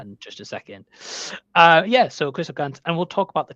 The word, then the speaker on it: Christophe Gans: Yeah, Christophe Gans, Christophe Gans, yeah.